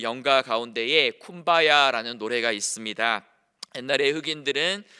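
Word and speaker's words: Kumbaya: 이제 주님 여기 오소서라는 컴바이 my 로드라는이 이야기가 어 쿠바야 컴바이 히를 쿠바야 아고 듣고 이렇게 발음을 했다라고 합니다 그래서이 쿠바야 아는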